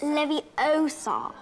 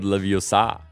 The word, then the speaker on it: Leviosa: already talking to her how do you pronounce Leviosa it's Leviosa that's perfect remember it's not Leviosa it's Leviosa let's just ask